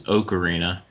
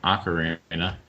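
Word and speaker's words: ocarina: many words will change it was okarina instead of aara keep a little tally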